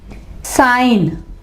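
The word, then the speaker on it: sign: इसके एग्जाम्पल है साइन, साइन, I और N के दरमियान में G है तो G क्या होगा, वो साइलेंट होगा, G आवाज नहीं देगा।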